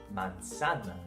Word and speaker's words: manzana: We just need to keep in mind that the letter zeta is not pronounced as Z, but rather as an S. Put that all together and you get the word manzana.